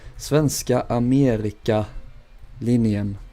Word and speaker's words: Svenska Amerika Linjen: If you're doing the Swedish version, it's spelled Svenska Amerika Linjen. No, not like that. I did it wrong myself. Svenska Amerika Linjen. There we go.